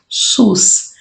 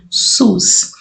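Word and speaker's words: סוס: depois o Summer novamente então s o s pronúncia SUS cavalo em hebraico pronuncia-se SUS só que aí eu escrevi apenas a palavra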